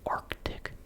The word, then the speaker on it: Arctic: Nobody really says Arctic. Arctic. Arctic. Arctic. If you really listen, you can maybe kind of hear it, Arctic, as a bit of a pause in the back of your throat, but you're not pronouncing the C, the first C, Antarctic.